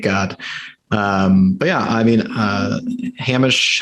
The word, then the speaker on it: Hamish: But yeah, I mean, Hamish, how do you say it? Linklater? I think it's Hamish, but I might be wrong about that. Hamish sounds right. That does sound correct.